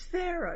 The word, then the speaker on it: Faro: No, I think, is it Faro or Pharaoh? It's a card game. I think it's Pharaoh. It's Pharaoh, yes. It's spelled Faro.